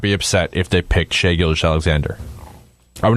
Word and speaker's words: Shai Gilgeous-Alexander: How do you pronounce his last name? For sure. Shai Gilgeous-Alexander.